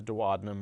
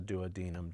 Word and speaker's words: duodenum: that the stomach feeds is the duodenum or the duodenum depending on where you get your pronunciations and so here uh